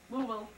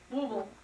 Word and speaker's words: Louisville: And how do you say Louisville? Louisville. Louisville. That's it, Louisville. But- Don't say Bill.